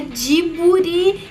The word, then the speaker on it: Ghibli: Mas eu acho que essa pronúncia é uma adaptação de fonemas que são estranhos à língua japonesa, como principalmente o bli, né? Então, o bli principalmente vira buri e não bli, né?